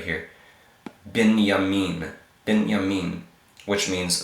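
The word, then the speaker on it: בנימין: have next Oh move this would typically be like a bait sound but here it's more like a V sound moving moving yah yah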